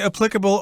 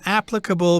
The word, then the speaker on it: applicable: are applicable to alcohol you could say applicable or applicable both pronunciations are common and she thought well